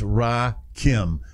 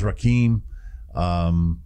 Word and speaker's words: Rakim: It's Rakim. I get it. I thought it was Rakim.